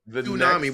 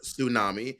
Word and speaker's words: tsunami: let's go on to let's go on to tunami which by the way mon tried to Gaslight me it is pronounced tsunami she clarified that today and you were like